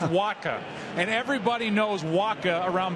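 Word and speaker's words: Wacha: to pronounce his name it's pronounced waka and everybody knows waka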